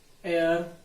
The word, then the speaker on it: heir: with consonant and sound is vowel see and air was born to the royal couple say this sentence and here the edge is silent and air was born to the royal family that's why